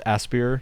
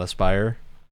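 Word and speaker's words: Aspyr: for your media i i've always heard it pronounced aspier not aspire yeah either way it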